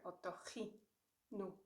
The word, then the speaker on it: otorrino: What we actually do, we shorten it to otorrin. And still, you will hear otorrino more, because that's, again, the penultimate syllable.